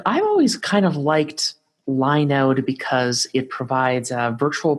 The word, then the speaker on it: Linode: supposed to pronounce it Linode and not Linode, because if it gets too close to Linux, it might run afoul of some legal thing. So they probably call it Linode. It sounds nicer as Linode anyways.